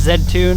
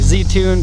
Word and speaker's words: Z-Tune: of people will say Z tune because Z is how the American market called the letter Z in Canada we say that and in Japan they say Zed so for example a